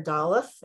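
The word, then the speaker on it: דָּלֶת: This is the letter D, which is pronounced Dal or Daleth, and it means door.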